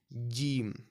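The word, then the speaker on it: جيم: It sounds like a J right in English. But the pronunciation of J and the pronunciation of Jim is completely different, right? You may or may not be able to hear it as I've said it, but bear in mind that these pronunciations are different.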